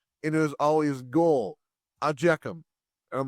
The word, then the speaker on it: IJKLM: Ajekum is spelled IJKLM.